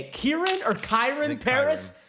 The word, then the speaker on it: Kyren: Kieran or Kairen Paris. Kairen Paris.